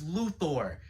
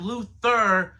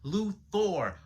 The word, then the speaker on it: Luthor: And Lex Luthor, and yes, it's Luthor, not Luther, Luthor. The letters O-R are pronounced as or.